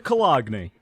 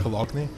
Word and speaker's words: Cologne: thing in the last recording that we lost, where he pronounced it Cologne, and we had to have like a 5-minute conversation with him about how it's pronounced Cologne and not Cologne.